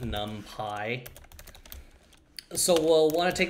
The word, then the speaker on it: NumPy: array num pi array you know the way you would pronounce it num pi so we'll want to